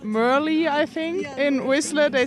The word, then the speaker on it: Merle: you say your name my name is but merly it's okay that's my nickname merly yeah because it's spelled m-e-r-l-e yes so in in America we'd say Merle yes I know the first time in America my name was Merle at the track and